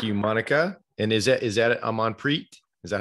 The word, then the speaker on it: Amanpreet: Amanpreet. Yeah. So the T silent? The Amanpreet. Oh, T. So you can hear the T. You say the T, yeah.